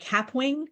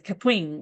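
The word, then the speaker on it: Kapwing: is called CAP um I've been calling it caping but apparently um the way that they pronounce the name is caping like um if you ever seen the uh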